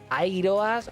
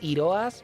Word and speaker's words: Iroas: Tenemos a Airoas o Iroas. Por un lado sería Iroas si lo pronunciamos en griego clásico, entre comillas, pero Airoas supongo que al ser inglés lo pronunciarán así.